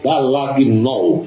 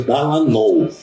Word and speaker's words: Dallagnol: outro A, G, N-O-L, Dallagnol, digamos assim. Só que o G é mudo. Então você pronuncia Dallagnol.